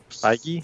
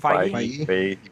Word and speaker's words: Feige: Feige? Feige.